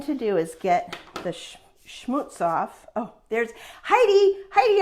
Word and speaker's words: schmutz: Heidi August is, she follows along, and she messaged me and she says, you're not quite saying it right. I think it's schmutz.